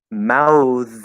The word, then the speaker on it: mouths: that's the trick yeah so mouths is going to be mouths mouths you just drop the th and you keep the z um paths paths pass